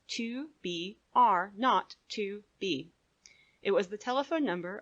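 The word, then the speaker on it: 2BR02B: were supposed to call the zero in the telephone number he pronounced not the number was 2 b r not to B it was the telephone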